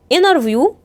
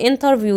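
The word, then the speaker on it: interview: اكترس اللي هي الممثله انار فيو ممكن تنطقها انار فيو يعني لو سمعتها كده فهي صح ده نطق امريكي او ممكن تنطق انترفيو زي ما احنا بنطقها عادي ده بريطاني انترنت برض ممكن نقولها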